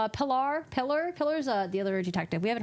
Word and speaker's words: Pilar: I think it's because of the way it's spelled that you're tempted to say Pilar. They told him it was pronounced pillar.